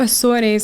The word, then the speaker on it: Azores: So I was on the Azores, or the Azores. That's how you say it in English.